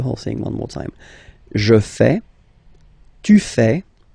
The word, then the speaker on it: fais: Je fais. Je fais. Remember, final S not pronounced. Je fais. Tu fais.